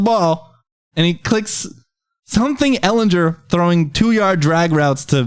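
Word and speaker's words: Ehlinger: Ellinger or Matt Ryan is it Ellinger my screen I think it's Eleanor yeah on that soft G buddy who's better I don't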